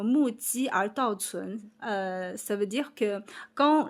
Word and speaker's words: 目击而道存: Et en fait, le sens original en chinois, ça se prononce comme mu ji er dao cun.